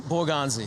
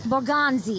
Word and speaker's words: Borgonzi: How do you say your last name in the most like accented way possible? Boranzi. Boranzi. Boranzi. like Bonzi.